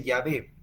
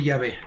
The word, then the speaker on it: Yahvé: Y esas consonantes se le agregaron las vocales para que se pudiera pronunciar, ¿verdad? Jehová, Jehová, o en otras versiones dice Yahvé. Sí, Yahvé, las letras de arriba.